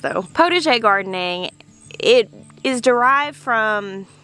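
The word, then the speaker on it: potager: the spelling right here because that's a french word and i am an arkansas girl uh that is how i have heard it pronounced though protege gardening it is derived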